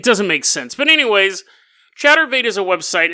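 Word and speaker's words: Chaturbate: Chatterbait. It's not like chattering your teeth. It's like chat.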